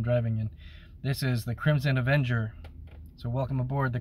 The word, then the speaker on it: Krymson: and the a so i call it crimson avenger spelled with a k uh the reason i